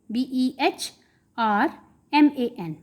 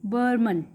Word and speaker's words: Behrman: सी the spelling of बर्मन, BEHRMAN, बर्मन।